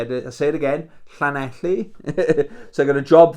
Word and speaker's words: Llanelli: Pronounce this one, Llanelli. I say it again, Llanelli.